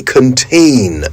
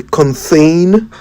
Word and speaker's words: contain: But have you heard people say contthane? I wonder where they are getting the extra h from.